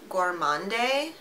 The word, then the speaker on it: Gourmande: I believe this brand is pronounced Gourmande.